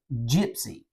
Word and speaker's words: Jypsi: pretty sure I seen something called Gypsy and by the way it's spelled JY PSI I like that Gypsy